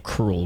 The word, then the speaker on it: K. Rool: Yeah, they pronounce his name Cruel, which had me second guess myself as a kid.